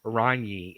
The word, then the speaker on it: Ragni: was told many times Ragni is the correct way to say it in Italian. Ragni. In Italian, anytime you see a G and an N and an I, it has an onion sound. Yeah, onion. So Ragni.